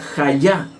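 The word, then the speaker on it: היה: Viene del Strong 1961, y que significa, la palabra hebrea se pronuncia hayá, que significa existir, hallar y permanecer.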